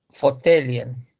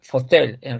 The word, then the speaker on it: fåtölj: Fåtöljen. No, fotel en realidad es así, fotel, no fotele, porque es en fotel, fotel.